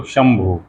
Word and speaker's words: शंभु: हैं शंभु वही तालब विष और श के ऊपर बिंदी पड़ती है और भ में उ तो शंभु तो श के वही तालब स के ऊपर बिंदी होती है उसको क्या पढ़ते हैं शंभु शभु म शंभु उसी